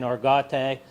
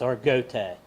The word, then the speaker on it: Argote: AR Goot it's uh some people's being saying arate but the family it's arot is how they pronounce the last name and sorry just to